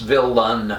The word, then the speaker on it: villain: i don't anyway villain they figured that that second syllable has an evol in it i can pronounce it that way but i think i more likely pronounce villan with an uh sound of schwa rather than an e but if anybody says